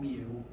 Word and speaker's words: mu: It is called mu, and you could spell that M-U, or you could spell it M-E-W if you like Pokemon.